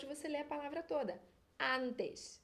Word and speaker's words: antes: ler a palavra toda antes e eu que sou carioca às vezes esse S do final vira um x na antes antes antes em espanhol gente continua com som do S Arantes a desce e